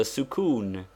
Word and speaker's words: sukun: tear it is the sukun and is very occasionally written for what is the use of sukun pronounced sukun that is with the italian oo it denotes the letter